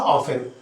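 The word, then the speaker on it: often: Fifth है आपका हाउ ऑफेन। यहां देखिए ऑफ 10 लिखा हुआ है। तो टी साइलेंट होता है इसको हम ऑफेन बोलते हैं।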